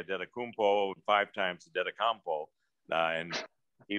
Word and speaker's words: Antetokounmpo: And I says, is it Adetokounmpo? He goes, well, it can be Adetokounmpo or it can be Adetokounmpo. And I says, well, which do you prefer?